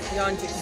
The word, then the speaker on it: Yeonjun: Yeonjun.